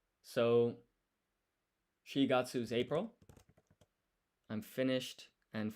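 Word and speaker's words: 四月: And then this is Shigatsu. Shi is another way of saying 4. Usually use yon. So Shigatsu is April.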